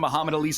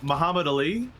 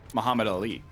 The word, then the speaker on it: Muhammad Ali: hero of the event keep saying Muhammad Ali yeah as if it's like one word but it's - how do you say it's what it Muhammad Ali yeah Muhammad Ali Muhammad Ali the cadence like the the emphasis is on the lean not the you're going right through the syllables as if there's never a break between them yeah yeah I'm sorry